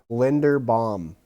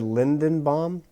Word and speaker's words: Linderbaum: No, Linderbaum. You said Linderbaum. You said Lindenbaum, and then you said Lindenbaum.